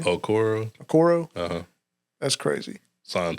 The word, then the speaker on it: Okoro: Okoro.